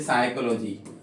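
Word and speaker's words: psychology: जैसे साइकोलॉजी, अच्छा वर्ड है साइकोलॉजी, तो यहाँ पे आपको किसको साइलेंट रखना है, पी को।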